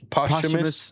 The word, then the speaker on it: posthumous: He's like you're pronouncing it wrong. Posthumous.